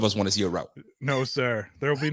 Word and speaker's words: Rauth: the only people who said my name right yeah it's route hello yeah i mean